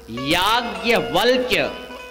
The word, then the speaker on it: याज्ञवल्क्य: आधा इलावा आधा का फिर या उसका पूरा उच्चारण अगर आप करेंगे ना याज्ञवल्क्य बड़ा कठिन है इसका